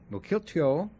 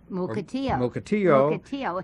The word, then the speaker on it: Mukilteo: It's spelled Mukilteo. It's an Indian word, and some of our staff says Mukilteo. Mukilteo. And leave out the L.